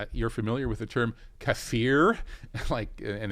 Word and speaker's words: kafir: Yeah, she said, you're familiar with the term kafir, and accentuating the word fear in the second syllable was quite telling.